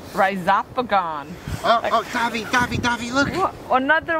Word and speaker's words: Rhizopogon: Rhizopogon. Rhizopogon.